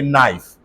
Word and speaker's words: knife: now look at this whenever KN come together Decay has to die so if I have